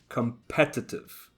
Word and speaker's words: competitive: one competitor competitor and it's the exact same with the adjective competitive competitive so the stress is on the second syllable competitor and competitive distribution distribution however watch